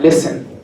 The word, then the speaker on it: listen: Just like listen, right? The T in the word listen is silent.